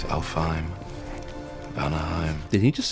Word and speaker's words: Alfheim: It's Alfheim. Vanaheim. Did he just say Anaheim?